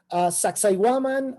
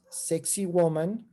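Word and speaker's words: Sacsayhuamán: Sacsayhuaman, or, for English-speaking people, much easier to remember as sexy woman, which is not the correct pronunciation, but it's one of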